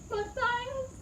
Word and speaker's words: Matthias: my gah YES NINA Matthias... (it's actually pronounced ma-TY-eyes so sorry haha) *furiously